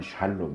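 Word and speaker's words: שלום: 쳐야 1급은 쳐져 있는데 원래 발음은 샬롬 있는 샬롬 이안 쳐주세요 4 샬롬 이 정확한 발음 인데 이게 이제 좌타 네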